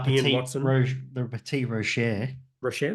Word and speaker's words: Rocher: Rocher, there you Or go. Like Frere Rocher. Rocher, like Yeah, that's the it. That's the chocolate. There means. you Do you know what Rocher means?